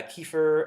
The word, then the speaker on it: kefir: easy one to make a kefir or kefir depending on how you pronounce it is also a very